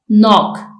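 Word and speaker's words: knock: इसमें T silent है नॉक इसमें के साइलेंट है ऑफें इसमें टी साइलेंट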